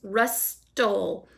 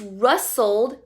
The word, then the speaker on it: rustled: sounds like rustle but there's actually a letter T in there that you may not hear so don't forget the letter T and that word rust wool is the way it sounds rust dole but we don't say